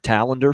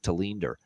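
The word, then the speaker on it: Tallinder: say it this way like all those years when it was Henrik taler for years then all of a sudden we started calling him Henrik tender when he was with the Buffalo Sabers or Tony lman for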